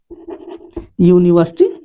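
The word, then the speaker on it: university: जैसे उदाहरण ले लीजिए, जैसे यूनिवर्सिटी, यूनिवर्सिटी, तो यूनिवर्सिटी जो विश्वविद्यालय होता है, तो देखिए इसका उच्चारण कैसे बच्चे, यू, अम्ब्रेला, यूनिवर्सिटी, तो इस यू को हम क्या बोल रहे हैं, इस यू को यू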